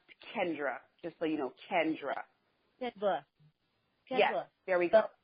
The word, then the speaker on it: Kendra: And when my first name is pronounced Kendra, just so you know, Kendra.